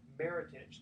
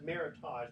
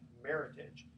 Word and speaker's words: Meritage: are my t8 GE combinations pronounced meritage like heritage I've said meritage but actually meritage so check them out